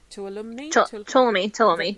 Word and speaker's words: Tuolumne: And it was, I don't know how to pronounce it, Tuolumne? Tuolumne, yeah.